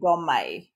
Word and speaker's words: Domme: We are covering You can negotiation. say dom or domme. It's Okay. both pronunciations is fine.